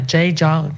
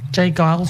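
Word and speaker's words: J. Geils: from 1980 by the J Gile Jay Giles band or J Giles. I don't know how you say it. Pronunciation. It's G E I L band. Yeah, J Giles band.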